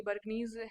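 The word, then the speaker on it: Bjerknes: ये बर्कनीज है, ये ऐसे होगा, इसको ऐसे लिखेंगे, बीच में सॉरी जे इसमें साइलेंट होता है।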